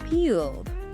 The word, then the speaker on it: peeled: And then we have peeled that ed ending. How does that change? Well, it often softens to just a D sound.